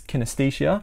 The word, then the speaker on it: kinesthesia: talk about proprioception now proprioception otherwise known as kinesthesia I think that's how you pronounce it is your body's ability to sense